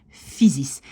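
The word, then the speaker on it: fysisch: plus tard, plus loin, que SCH, en néerlandais, on prononce juste un S à la fin. Donc le CH, voilà, on ne le prononce pas, c'est physis.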